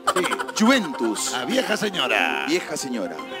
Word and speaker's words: Juventus: Juventus, ¿está bien pronunciado, Mr. G? Sí. Juventus.